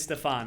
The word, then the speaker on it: STFN: Not pronounced. It's the letters like STFN. Okay, excellent. But his real name is Stefan.